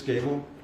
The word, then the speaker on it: Gable: last name please yes my name is Gable and it's spelled c h r i s g a